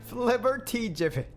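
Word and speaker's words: flibbertigibbet: You're You should be excited for how this is pronounced. Flubberjibbit. Fliberty Jibbit. Flibert Jibbit.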